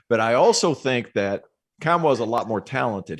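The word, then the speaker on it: Nkamhoua: And I think the guy who could step up and have a huge year for this Volunteer team, Olivier Kamwa, did I pronounce that right?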